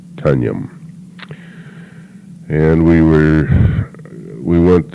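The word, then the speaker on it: Tonjum: the name of the town is tanjam Teo and t-o-n-j-u-m pronounced tanyam and we were we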